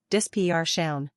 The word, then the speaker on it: dispersion: For dispersion, stress the second syllable as well, dispersion.